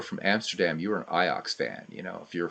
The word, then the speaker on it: Ajax: iox jacket right so we would pronounce it Ajax we say iox and and Dutch I'm like dude what